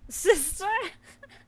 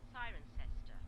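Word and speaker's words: Cirencester: Sister. Of course it is. That's ridiculous. Sister. Siren sister. Siren sister. Oh, okay. The second one. It says occasionally sister.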